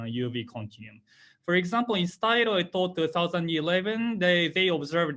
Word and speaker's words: Shotaro: I know my name is a little bit wrong to pronounce, and the true pronunciation is Shotaro.